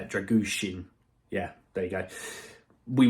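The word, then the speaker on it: Drăgușin: has had found out how to say it dragusin yeah there you go we would have easily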